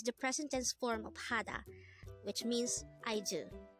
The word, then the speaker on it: 하다: Hada.